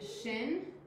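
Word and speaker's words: שִׁין: We have shin, and we have sin. Shin makes an SH sound, sin makes a S sound, and she helped me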